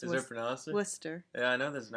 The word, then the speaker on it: Worcester: of my childhood and do people in waster pronounced that way sir or is it like Wooster it's an awesome Wooster yeah I know there's an action well Wooster